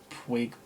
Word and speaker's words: Puig: Puig. I don't really know how to pronounce it, but I just say Puig.